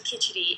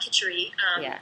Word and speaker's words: khichdi: You know, I think I go back to khichdi, and khichdi, or some people call it khichuri. It's spelled, if you're looking for it online, there's